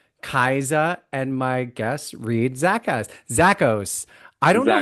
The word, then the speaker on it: Zakos: Well, you just said it right, Zakos.